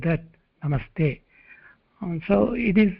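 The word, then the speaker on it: नमस्ते: Namaha te, when combined together as a sandhi, you can pronounce them separately, namaha te. Or if you want to combine them, it becomes sandhi, namas and plus te, namaste.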